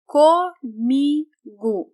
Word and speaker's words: comigo: As you can see, the vowel O has a U sound. Comigo. Comigo. Sometimes in daily speech, some people will also pronounce this O as U. Since the stressed syllable is me, so we say comigo. The stressed part is me. Co and go is unstressed. So that's why the vowel O can be pronounced as the vowel U.